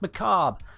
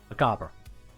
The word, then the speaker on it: macabre: like to tell me, "No, Ken, it's called Dance Macabre." I'm like, "No, you're American. You got it wrong. It's from a French word. Might as well pronounce it as close to the French way as you can."